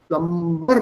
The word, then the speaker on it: plumber: Yeah, the B is silent. Plumber. M और B जब साथ में आते हैं ना, you have to silence the B. And only the M is pronounced.